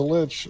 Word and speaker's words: lich: He is a lich. Rhymes with bitch for a reason.